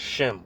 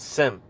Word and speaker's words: Shem: uh um you know they pronounce it wrong the word is Shem all right we come from Shem not not sim all right we're shumites